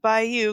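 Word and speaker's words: Bayeux: it and it is named after the French city of Bayou because it's from the Norman perspective despite being made in England it is the Bayou tapestry nice Jeff and it is spelled b-a-y-e-u-x so yeah um all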